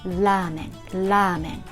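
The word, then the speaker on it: ラーメン: when you say la especially when the word starts with la it's more like l sound lament your tongue touches the upper gum of your mouth lamen lamen learning i said that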